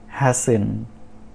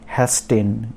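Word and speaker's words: hasten: तो first word है हैसन, नॉट हैस्टेन, इट इज़ हैसन।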